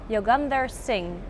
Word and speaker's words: Yogender Singh: My guest for this interview is Yogender Singh. Did I pronounce it good?